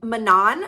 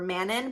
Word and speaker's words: Manon: God I miss him Manan which I'm not sure if you pronounce it Manan or Manon but I say Manan she's one of the